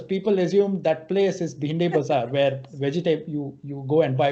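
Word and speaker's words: Bhendi Bazaar: And because when the English pronounced behind the bazaar, the local who heard it was like, okay, I heard it as Bindi Bazaar, and I'm going to pass it on.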